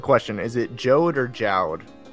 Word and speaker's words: Jowd: Okay, so important question: is it Jode or Jowd? I pronounce it Jode because it looks like Jode, and also because the Japanese version is Jodo.